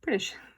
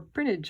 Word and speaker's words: Prinknash: The one thing I found interesting is that Prinknash is how I would pronounce it. Locally, it's pronounced Prinish or Prinnage or Prinish.